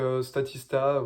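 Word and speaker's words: Statista: pur ces statistiques donc stati star voilà comme comme ça se prononce c'est plein plein de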